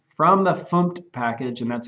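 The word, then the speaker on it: fmt: in the package so I'm saying from the funk package and that's how you pronounce that and that sounds a little funny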